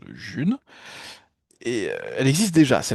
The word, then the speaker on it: Ğ1: En fait, je vous parle de la June, ça s'écrit G libre 1, ça se prononce June et elle existe déjà.